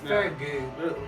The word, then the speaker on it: Farragut: Farragut, we think that's how you pronounce that. We think that's how you pronounce it. It's spelled Farragut. Okay. It may be gut, Farragut. That's not his. No, it's Farragut.